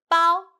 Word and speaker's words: 包: The word of today is 包. In this video, I will teach you how to pronounce it, how to write it, and how to use it.